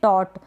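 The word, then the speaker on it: taut: highlight किया हुआ है तो टोट इसको पढ़ेंगे टोट टाउट नहीं पढ़ेंगे इसको ए यू जो होता है उसको आप प्रोनाउंस कर देते हैं औ तो इसका प्रोनंसिएशन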